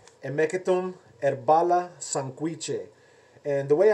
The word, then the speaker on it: Hemeketum: The H is kind of silent. You would pronounce almost like if you're thinking about like half of the H in a way. So instead of like the H, Hemeketum, you'd be like Hemeketum.